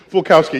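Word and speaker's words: Falkowski: So, Paul, let me get your name pronounced. Fulkowski. I tried. Fulkowski, yeah, tell us what part of the universe you come from.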